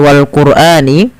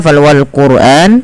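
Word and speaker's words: وَالْقُرْآنِ: wal quran rnya dibaca dengan tebal ya wal qurani karena apa kenapa ro dibaca dengan tebal tidak dibaca wal qur tapi wal quran karena ada huruf ra sukun yang didahului dengan huruf dammaah maka ia wajib dibaca dengan bacaan tebal teman-teman ya salah satunya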